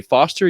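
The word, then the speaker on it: Forster: co-host there is Jay Foster you can find him on Twitter at underscore Jacob with a k f o r s t e r that R is silent I don't know it's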